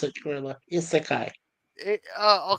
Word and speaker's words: Isekai: That's how you pronounce it, Gorilla. Isekai.